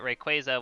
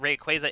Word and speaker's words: Rayquaza: from the anime but rayquaza was pronounced quasar so shrug or but rayquaza isn't pronounced quasar so shrug well no in the anime rayquaza is pronounced rayquaza it's not it is pronounced like quasar not it's not rayquaza